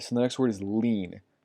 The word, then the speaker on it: lien: the next word is lien let's lean not lying right so this is pronounced like lien so and allene is